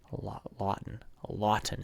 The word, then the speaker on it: Lawton: Lawton is how you say it.